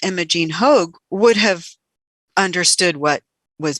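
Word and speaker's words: Hoagg: with an e and then it but it's hogue yeah h-o-a-g-g yeah one person asks was there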